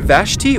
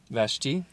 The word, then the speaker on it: Vashti: Is it Queen Vashti or Vashti?